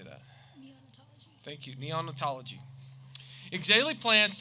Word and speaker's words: neonatology: Neonatology.